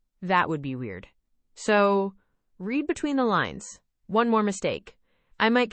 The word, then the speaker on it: read between the lines: Read between the lines. Pronunciation. The, d, in, read often gets softened before between. It sounds like between the lines in fast speech.